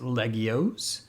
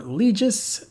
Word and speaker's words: Legioss: in genesis climber mospita it's pronounced legios but that sounds awkward to my english speaking tongue i know some people prefer legis and moss speeda but if you're not